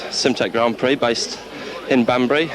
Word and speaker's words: Simtek: Is that right way to pronounce the make of car? That's right, it's Simtek Grand Prix based in